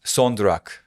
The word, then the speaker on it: son durak: Son durak.